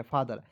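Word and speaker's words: father: चलिए उसके बाद आगे देखते हैं एफ ए टी एच ई आर तो एफ ए से होता है फा, टी एच को द पढ़ना है और ई आर है तो र पढ़ना है, ई को यहाँ पे साइलेंट करना है फादर।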